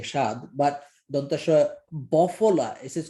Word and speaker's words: স্বাদ: Now you could have said simply দন্তাস্ব আকার স্বাদ, but দন্তাস্ব আকার স্বাদ would be pronounced as I am saying shad, but Dantasha bofola, this is called a bofola.